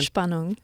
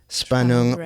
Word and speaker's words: Spannung: Spanong. Spanong.